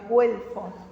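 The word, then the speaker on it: güelfo: pizarrón porque viste que al tener la diéresis la u se se pronuncia guelfo y los gibelinos jinos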